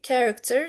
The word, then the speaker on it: character: These are pronounced with ch, and chemistry, egg, psychology, character. These are pronounced with k.